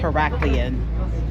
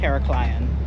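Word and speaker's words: Heraklion: Apparently I'm saying it wrong. It's Heracleian. Heracleian, not Heracleion.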